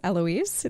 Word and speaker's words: Heloise: So my name is Heloise. The H is silent, which I have to tell people a lot.